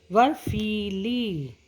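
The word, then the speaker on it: बर्फ़ीली: फा के नीचे देखिए डॉट लगा है, फा इसको ऐसे प्रोनाउंस करते हैं, जैसे फा होता है और डॉट आ जाती है, फा हो जाता है। फा और फा। बर्फीली।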